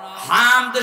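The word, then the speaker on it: حمد: রাব্বিল আলামিন আগেরটা হয়েছে কেন হামদ শব্দটা ভেতর থেকে উচ্চারণ করা লাগে কারণ হামদ আর হাম ছোট হার বড় হাতিরে আকাশ পাতাল হয়ে যাচ্ছে হামদ মানে প্রশংসা আর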